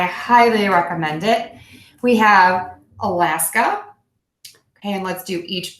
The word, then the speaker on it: Alaska: Alaska, Alaska. So again, really focus on that short beat, super short at the beginning, your longest schwa sound.